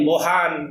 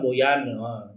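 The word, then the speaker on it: Bojan: Artinya Boyan ini, jadi ada komen kamari, Kang Eko lain Bohan, dibacanya Boyan. Oke lah Boyan ya.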